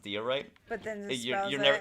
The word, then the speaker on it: diorite: Magic Toast says, it's actually pronounced diorite.